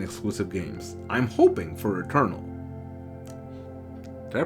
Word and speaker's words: Returnal: I'm hoping for Returnal. Did I pronounce that right? Returnal. Hold on. Returnal.